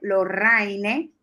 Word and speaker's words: Lorraine: son LORRA y latina ENE y latina SARD, Lorraine, se pronuncia, Lorraine Isa RD.